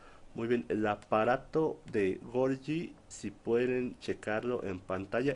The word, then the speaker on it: Golgi: Si se pronuncia Golgi, no Golgi ni nada raro, es Golgi.